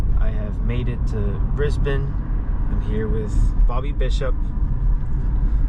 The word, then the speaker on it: Brisbane: are a Brisbane native Brisbane I just said it wrong oh Brisbane or Brisbane it depends on who you talk to do people say Brisbane uh people who aren't from here but are here is